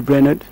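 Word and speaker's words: Brainerd: a façonné son enfance David braener comme j'aime toujours le prononcé en anglais David Brener il est né le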